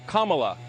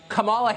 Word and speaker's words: Kamala: um hosts on Fox her name is pronounced Kama like the punctuation mark La Kamala okay seriously I've heard